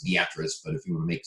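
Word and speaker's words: Beatrice: low pressure here I like to call it beet rice it's actually pronounced the actress but if you would make someone from Nebraska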